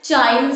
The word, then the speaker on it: Cheyne: अब इसको सब अलग अलग टाइप से प्रोनाउंस करते हैं, कोई बोलता है चाइल्ड स्टोक रेस्पिरेशन, कोई बोलता है केन स्टोक रेस्पिरेशन।